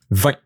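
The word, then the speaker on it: vingt: For this one, you don't pronounce this GT here. It's a non-pronounce. Maybe I'll don't pronounce GT. 20.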